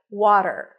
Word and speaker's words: water: of the Olympiad right water water a w sound then the a is in Father w w then a flap T and an R water water in American